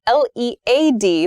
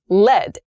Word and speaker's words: led: please be careful lead l-e-a-d the verb the past tense of that verb is lead l-e-d l-e-d lead has the same pronunciation as the noun form of l-e-a-d lead as a pencil material and lead past tense